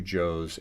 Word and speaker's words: Cho: Service detail, David Cho, is pronounced like Joe and Koreans had had uh jokes. Um the two Joe's. Why Koreans pointed out the two Joe's at the inauguration.